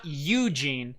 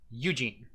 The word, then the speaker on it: Eugene: know them yeah and it's not eugene it's eugene eugene yeah eugene yeah eugene as my old math teacher from eugene oregon used to say you're putting the emphasis on the wrong syllable eugene g g gets the emphasis u does not eugene eugene yeah there